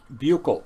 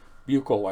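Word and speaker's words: Büchel: when I was there, Buchel in West Germany. Buchel, I believe, is how it is pronounced. B-U-C-H-E-L, Buchel.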